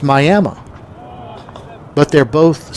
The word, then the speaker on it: Miami: Now there's Miami, Florida, but there is also Miami, Oklahoma, which is spelled the same way as Miami, Florida, but pronounced Miami.